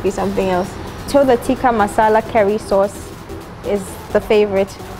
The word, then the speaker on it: tikka masala: yes okay so can i please have the tikka masala curry sauce that's how you pronounce it chicken tikka masala okay and then